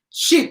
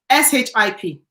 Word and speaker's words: ship: i do you know i never pronounced this word correctly sheep sheep s-h-i-p sheep ship i don't know you know